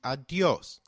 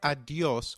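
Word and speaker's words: adiós: hasta luego very good did you notice the accent on the O in adios if a word is marked with an accent then that syllable receives the stress so try adios once again adios perfect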